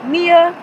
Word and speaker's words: Niyya: i y y a t NE e e pronounced Nia T A lot of people ask me how